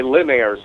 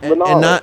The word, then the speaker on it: Linares: No, Linares is not right. He's Latino. It's Linares.